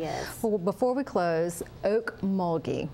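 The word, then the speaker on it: Okmulgee: members it really is well before we close Oak muli right so spell that for us o a k m u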